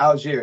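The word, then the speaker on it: Allgeier: rusher last year the other running back yeah Alger that's how you say it um I think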